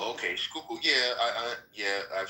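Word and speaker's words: Schuylkill: Skookul. Skook. Skookul, not Skype. No, it's a Dutch word. Skook. Okay. Skookul.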